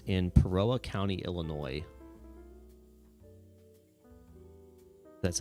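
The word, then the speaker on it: Peoria: International Airport General Wayne A Downing it's in peroa County Illinois that's how you say it absolutely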